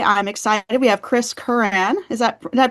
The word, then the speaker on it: Curran: We have Chris Curran. Did I pronounce that correctly, Chris? Curran. Curran.